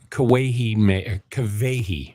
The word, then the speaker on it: Kawehi: But Kawehi makes. Let me get her name right. It's a W, but it's spelled with a V. But or no, it's a V sound spelled with a W.